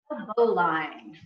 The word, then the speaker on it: bowline: Bowline. Pronounced bowline. Spelled bowline, I know.